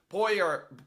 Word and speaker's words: Poirier: The back end of it is what's supposed to be tricky because it's French.